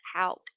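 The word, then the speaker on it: Houck: was a rained or I always say it wrong Brooks Hal there we go he was AR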